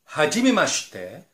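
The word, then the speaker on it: はじめまして: Ada beberapa kata seperti mata ashita, do itashimashite, hajimemashite, douzo yoroshiku, yoroshiku onegai shimasu, gochishou sama deshita. Nah, untuk pengucapan ini minasang, ada vokal i di tengah-tengah itu tidak dibaca.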